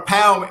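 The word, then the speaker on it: pau: a pal and remember po means a ending in Hawaiian so it's spelled PA so we'll do a PO ready one two three pow and a thank you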